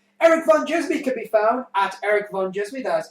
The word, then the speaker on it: ErikVanDjismie: ErikVanDjismie can be found at ErikVanDjismie, that is ErikVanDjismie, and the D is silent.